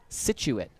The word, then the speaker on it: Scituate: can tell you that i did not forget that pronunciation situate s-c-i-t-u-a-t-e don sounds about right